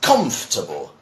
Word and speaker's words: comfortable: what we read so many people try to say comfortable or something like that but no you see the English translation for this is comfortable it's shorter right is comfortable so you'd